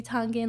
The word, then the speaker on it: Tonga: But yeah, Tonga [American English pronunciation TAHN-guh] or Tonga [Tongan pronunciation TOHNG-uh] is the small, small island in the South Pacific.